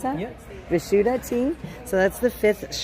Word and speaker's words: Vishuddha: Is that how you pronounce that? Yes. Vishuddha tea.